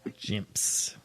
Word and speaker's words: Jimps: Rhymes with chimps, begins with a J. Jimps.